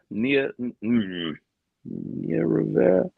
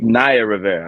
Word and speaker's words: Naya Rivera: And Nia Rivera. Apologize. I believe Naya Rivera. I believe that's how you pronounce her name.